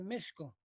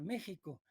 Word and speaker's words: México: es por eso que tenemos una palabra esdrújula méxico porque fue méxico méxico y luego debemos de ahí de mala depende tica se coló dentro de la palabra la pronunciación méxico es muy impresionante constatar